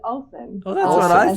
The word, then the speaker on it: Ohlsson: They're probably the only ones who can spell or pronounce my surname. Swedish interns. So, just for the record, what's your last name? It's Ohlsson.